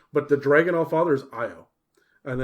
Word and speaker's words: Io: the dragon off father's eye oh and it's spelled io and he is the god